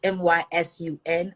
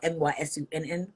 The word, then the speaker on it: Mysun: My son is Mysun or Mysunn, but I spell it Mysun, just like my son.